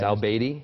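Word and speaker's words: al-Abadi: Well, I don't remember his former profession, and I'm not sure I'm going to pronounce his name correctly, but it's al-Baidi.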